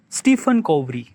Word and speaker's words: Stephen Covey: Seven Habit of Highly Stephen Covey.